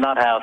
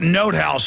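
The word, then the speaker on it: von NotHaus: go after this guy by the way it's pronounced note house he corrected me but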